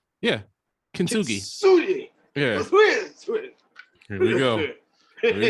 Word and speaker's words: Kintsugi: So I got Alec and Bradley Kinsuchi. I think I said that right. I said it right. Yeah, Kintsugi.